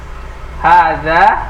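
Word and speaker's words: هٰذَا: Bacaannya hadza. Hada koladun. Koladun. Wah itu, wow. Hada waladun. Nah, benar apa salah? Salah. Panjang pendeknya harus benar. Karena berubah nanti artinya. Hadza. Hada waladun.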